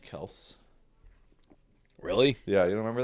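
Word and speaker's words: Kelce: Like the Kelseys, they were like, it's actually pronounced Kels.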